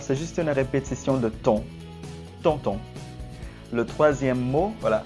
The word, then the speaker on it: tond: Le troisième mot, voilà, on voit un D extra à la fin du mot, mais normalement, on ne prononce pas les consonnes qui se trouvent à la fin d'un mot.